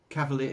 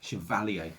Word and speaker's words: Chevalier: that's kind of their chevrolet chevrolet chevrolet chevrolet cavalier chevrolet i can't remember you can't even remember how to say the bloody thing that's kind of they're mild anyway put it that way chevelle chevalier chevalier that's it valley a mile we got there